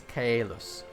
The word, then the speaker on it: Kaelus: It is Kaelus. You separate the vowels.